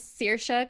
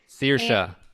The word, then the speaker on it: Saoirse: Yes, so my name is Saoirse Clare McGovern, and Saoirse. yes, Saoirse.